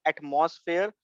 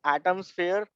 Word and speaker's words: AtomSphere: It is not atmosphere, it is Atomsphere. Lot of people pronounce it as atmosphere.